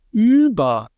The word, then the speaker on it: über: So in words like ü, as in über, over, über, you can, when you pronounce that, you have to really round your lips to get that ü sound out.